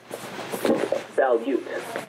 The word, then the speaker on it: Balut: How do you pronounce that? Balut.